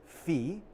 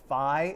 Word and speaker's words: phi: I believe the proper Greek pronunciation of the Greek letter is phi. But I often hear it pronounced as phi in a sort of like more informal like way, or incorrect way, I guess is another way of putting that.